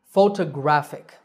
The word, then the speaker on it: photographic: photographer and similarly photography the last word is photographic so where is the stress the stress is on the third syllable grat photographic one last time photograph